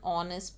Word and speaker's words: honest: mp she is an honest politician now here also though it is starting with h a consonant but we are putting an o because h is silent and we are putting